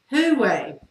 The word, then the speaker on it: Huawei: Huawei.